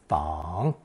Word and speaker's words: 访: And pronounced third tone, fang.